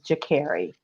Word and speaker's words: Sha'Carri: Sha'Carri, Sha'Carri, and I forget, there was like 4 different pronunciations, but it is Sha'Carri.